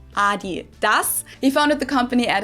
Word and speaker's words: Adidas: were referring to because they usually pronounce it Adidas and in Germany we say Adidas. Adidas. Adidas. Adidas. Super different.